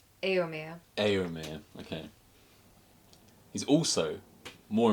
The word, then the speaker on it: Éomer: How do you pronounce his name? Éomer.